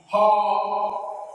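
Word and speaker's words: ὁ: In the nominative singular, the article is her. With rough breathing, you have to pronounce the rough breathing and the omega.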